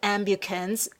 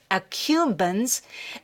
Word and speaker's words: accumbens: ventral tegmental area the nuclear at the nucleus ambu khun's i'm sorry i mispronounced that nucleus accumbens and remember this prefrontal cortex prefrontal cortex is